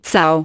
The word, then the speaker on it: Cao: En este artículo en concreto Jie Cao y Renai Cao, pronunciado Cao, 2 investigadores del Instituto Karolinska de Estocolmo, demostraban